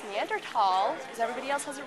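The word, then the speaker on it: Neanderthal: whatand first question I asked how was it pronounced he said it's neander tall because everybody else has it wrong so you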